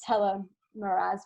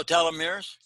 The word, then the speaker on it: telomeres: human growth hormone um i think i pronounced telemaras wrong how do you say it tella what oh telomeres telomeres telomeres it's a word that doesn't sound like that but um yeah so